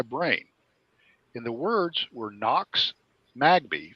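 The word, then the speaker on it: Nox Magbee: in the words were knox magby phonetically spelled n-o-x m-a-g-b-e-e knox magby and he said and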